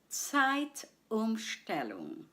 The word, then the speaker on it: Zeitumstellung: I'll say the word syllable by syllable. Please repeat after me. Zeit. Second syllable, Stellung. Once more, Zeitumstellung.